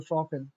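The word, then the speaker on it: Chopin: चोपेन नहीं पढ़ते इसको। शफिन इसलिए हमने सही प्रोनाउंस किया।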